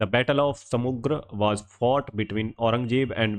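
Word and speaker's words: सामूगढ़: The battle of समुग्र was fought between Aurangzeb and we Mughal princess? तो रामूगढ़ का जो युद्ध है समुगढ़ का समुग्र समूगढ़ रामूगढ़ नहीं है यह समुग्र है समुग्र का जो युद्ध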